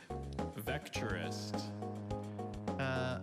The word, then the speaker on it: vectorist: Vectorist. Information. Vectorist has no alternate pronunciations.